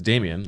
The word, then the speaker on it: Dameon: The way his name is spelled, Dameon. I I say Damian. I mean, it's it is Damian, I believe.